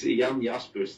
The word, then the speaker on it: Jan Jaspers: It's Jan Jaspers. That's how it's pronounced in my language.